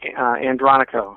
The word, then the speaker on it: Andronico: So it's Mike Andronico. Is that how you pronounce that? not quite. Andronico. Mike Andronico.